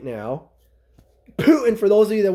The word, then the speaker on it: Putin: Trump who is very Pro Putin right now Putin for those of you that want me to